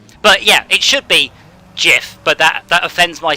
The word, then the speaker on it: GIF: a it's a real thing it has a pronunciation but yeah it should be jiff but that that offends my sensibilities pronunciation not